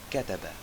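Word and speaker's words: كَتَبَ: So, it can be pronounced as kataba, he wrote, or kutiba, it was written, or kutub, books.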